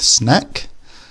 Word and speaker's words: snack: makes an a sound compare that with snack this is a small item of food you might have as a treat or between meals and here the a sound is an AA when I was working in